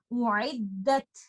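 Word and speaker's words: أعدت: You have to make sure that you don't make both of them Hamza or both of them Ain. And when you are reciting this ta, remember to give hums. The running of breath with the letter ta. U'iddat, u'iddat. And do not say u'iddat. I am making both of them as if I'm giving Hamza and then ta without hums. U'iddat. And this is not right.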